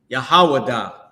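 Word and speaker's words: יהודה: So, what you may uh what you may not know is how you say Jude in Hebrew, right? The book of Jude is Yahawadah.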